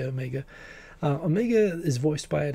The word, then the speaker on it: Omega: So Omega, a very New Zealand way of pronouncing it. I've been away for too long. I would say Omega.